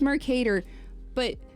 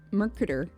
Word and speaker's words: Mercator: Mercator, yes. Mercator, but my brain wants to say Merca. No. Mercator. It's Mercator, But the thing is